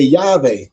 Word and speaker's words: Yahweh: They say Jehovah, but I always say Yahweh, because there never was a J in the dialect, and are used by